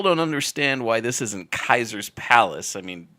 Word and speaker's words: Caesars: I still don't understand why this isn't Kaiser's Palace. I mean, if anybody took Latin in high school or college, there's no soft C. AE is always pronounced as I. Kaiser's.